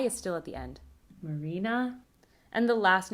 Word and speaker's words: Marina: The second name has penultimate stress, so the low is on the penultimate syllable, but the high is still at the end. Marina.